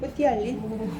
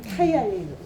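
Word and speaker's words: ptyalin: 뿌띠알린? 그거 바뀌었어요, 이름. 오. 타이알린으로. 파이야. 타이알린. 예. 이 영어로 PY알린 이렇게 쓰거든요. 그래서 뿌띠알린 이렇게 읽었는데 영국식, 미국식으로 이게 묵음이고 타이알린.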